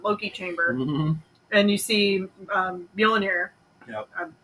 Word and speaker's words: Mjolnir: descending into the Loki chamber, and you see Mjolnir. Yep. I mispronounced. That's right. No, that's right. Mjolnir.